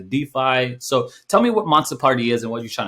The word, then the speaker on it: Monsta Party: thing monsta party okay m-o-n-s-t-a how i pronounced it in seventh grade with my tilted hat and listen to 50 cent monster party um is an nft